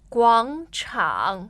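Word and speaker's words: 广场: 广场 Square. So both third tones.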